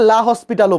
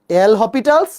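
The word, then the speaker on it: L'Hôpital: অনেকে তো পড়ে বলছো, এল হসপিটালস, বা আমরা এটাকে লা হসপিটালও বলি। এটার উচ্চারণ এল হসপিটালস বা এল হসপিটাল।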